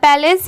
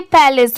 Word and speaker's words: palace: PA पै की sound आएगी और LACE लेस, पैलेस।